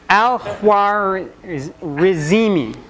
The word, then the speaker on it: Al-Khwarizmi: Al-Khwarizmi, which sounds like algorithm.